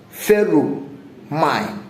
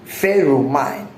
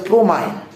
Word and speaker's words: pheromone: but it is pronounced feru mine. Ferro mine. Okay. P H E R O M I N E foot stop ferro mine some people call it promine removing the H and they call it